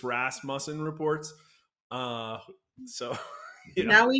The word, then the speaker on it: Rasmussen: way it is I didn't know how to pronounce it either until I started working here but it's Ras musen reports uh so now we know now the